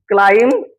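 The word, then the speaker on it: climb: आहे बी सायलेंट आहे सी एल आय एम बी क्लाई क्लाईम नाही तर क्लाईम असा उच्चार केला जातो क्लाईम एल ए एम ए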